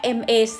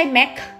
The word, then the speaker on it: MAC: สำอาง เคาน์เตอร์ แบรนด์ ค่ะ ทุก คน m a c Max อ่าน ว่า Mac นั่น ก็ คือ ไม่ ใช่ แม็กซ์ อย่าง นี้ นะ คะ ไม่ ใช่ นะ คะ แม็กซ์ แต่ อัน นี้ Ma